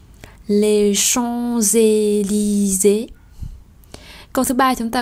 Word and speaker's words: Champs-Élysées: Ở đây có hai chữ S, nhưng đầu tiên là S mà đọc nối thì đọc là Z. Và Élysée không đọc Élysée, bởi vì xung quanh chữ S đó là hai nguyên âm Y dài và E.